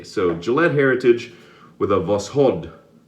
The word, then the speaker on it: Voskhod: So Gillette Heritage with a Voskhod, I think I pronounced that correctly, with the emphasis on the second part, Voskhod blade inside.